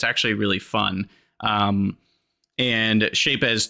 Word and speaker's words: Shapez: And I don't know if it's pronounced Shapez or Shapes, but it's got a Z on the end, and I like to pronounce the Z. So I'm calling it Shapez until someone has at least evidence that it's not supposed to be pronounced that way.